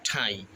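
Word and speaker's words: ঠাঁই: আবার আছে মরিবার মত ঠাই আমরা যদি ঠাইকে টাই উচ্চারণ করি তাহলে কিন্তু ধ্বনির যে সঠিক উচ্চারণ তা হবে না এজন্য এটা আমাদেরকে এই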